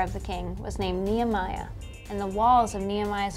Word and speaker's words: Nehemiah: Nehawaddy? Nehemiah, from the Old Testament.